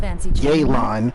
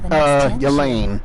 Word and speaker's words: Yelan: I don't know why they keep pronouncing it like that. Yelan. I'm just gonna keep saying Yelane, no matter what. What do you think? Don't care if y'all correct me either. Yelane, not Yelan.